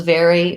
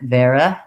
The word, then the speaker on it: vary: into the er very when you're saying the words vary or vary make sure that you use a tense e for your y sound i often will hear that more like vera where the unstressed syllable becomes a little bit more of a schwa or an sound and you want to avoid that pattern even though it's not